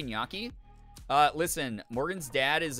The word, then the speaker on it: gnocchi: who is half Italian says Naki and he yells at her every single time he's like that's not how you say it it's gnocchi so I've learned I've